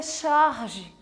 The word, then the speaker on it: charge: significa que curioso é de origem francesa né se pronuncia a charge olha que chique né